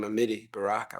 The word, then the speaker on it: Amiri Baraka: Became Amiri Baraka, which is the Swahili pronunciation, because I was interested in the African emphasis.